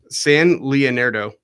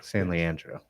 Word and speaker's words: San Leandro: San Leonardo.